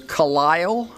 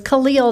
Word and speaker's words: Khalil: The next speaker, if I'm reading this correctly, is Kali. Apologize if that's not correctly pronounced. Thank you. My name is difficult. It is Khalil.